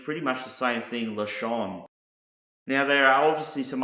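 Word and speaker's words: לשון: you that starts with the letter llama is pronounced lashon and this is the Hebrew word for tongue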